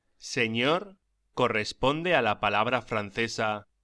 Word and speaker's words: señor: La ñ se pronuncia como gn en francés o ni en inglés, como por ejemplo onion. Pronúnciese señor y señora.